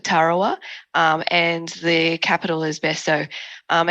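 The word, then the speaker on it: Betio: and the capital is Besso. And as you've probably noticed, the local pronunciation of TI becomes an S. So that's the background between the Kiribati and the Besso.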